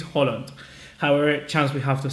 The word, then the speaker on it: Haaland: to sign Erling Haaland, or Haaland, however it's pronounced. I think it's Holland.